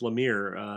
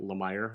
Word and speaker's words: Lemire: I watched an interview this week with Jeff Lemire, and I'm pretty sure it is pronounced Lemire, unlike certain people are calling it Lemire, at least according to the interview.